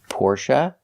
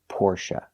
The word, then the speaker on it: Porsche: pronunciation of two words Porsche and Latte first let's talk about Porsche in America people pronounce this word two ways Porsche and Porsche porsa is more correct according to the original pronunciation but